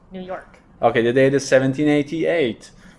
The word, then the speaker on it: New York: York New York yeah more emphasis on the York New York okay the date is